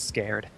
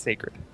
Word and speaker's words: Sacred: we have iWL Sacred, who I really, really want to pronounce as Scared every time I see that name. But it's not Scared, it's Sacred.